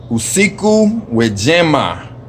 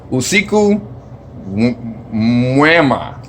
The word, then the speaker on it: usiku mwema: Usiku wejema. God dang, I said it wrong again. I mixed up both of the words. Usiku mwema.